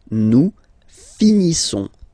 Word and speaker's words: finissons: Nous finissons. Finissons. Okay, final s not pronounced.